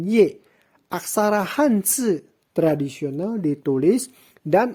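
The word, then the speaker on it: 叶: Marga Ye, pinyin Ye, diucapkan dengan nada keempat, dibaca dengan Ye.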